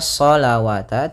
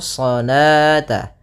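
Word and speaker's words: صَلَاةَ: Kemudian di sini bukan dibaca sholawata, tidak boleh dibaca sholawata, karena di sini ini penulisan rasamnya. Ketika penulisan rasam shalah itu seperti ini. Nah, waw di sini dianggap tidak ada, waw tidak ada, dan alifnya yang saya dianggap yaitu sholata. Kemudian kalau kita waqaf pada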